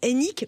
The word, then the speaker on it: Hénique: orange l'opérateur télécom que nous connaissons tous enck bonjour bonjour Vanessa j'ai bien prononcé votre nom c'est ça monsieur directeur général